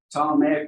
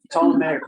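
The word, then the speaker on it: Ptolemaic: you say that word problematic rulers I said it wrong last night six times and she finally told me that is wrong telematic rulers history I've had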